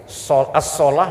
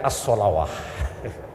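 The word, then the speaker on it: الصلاة: Ya, as-solah dibacanya as-solawah. Padahal Dewan Hakim berharap ini Reza lolos semifinal, lolos final dan juara, karena memang bagus membacanya.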